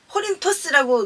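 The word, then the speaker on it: Κόρινθος: 코린토스라고 이렇게 원래대로 발음은 그런데요.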